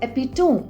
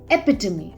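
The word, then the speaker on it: epitome: as hierarchy many people mistakenly pronounce it as epitone the correct pronunciation is epitomy now back to tips tip three use technology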